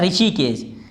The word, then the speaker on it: ऋषिकेश: Next है हमारा, वैसे तो हमारा ये H साइलेंट होना चाहिए, हमारा क्या है, ऋषिकेश, H साइलेंट है, ये क्या है हमारा, ऋषिकेश, ठीक है, ऋषिकेश। हमारा कहाँ है, ये R से है हमारा, H यहाँ पर नहीं है, ऋषिकेश, H साइलेंट हमारा। ट्वेल्थ है हमारा, ये लास्ट